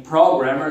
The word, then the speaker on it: programmer: E também programmer, sílaba tônica é a primeira.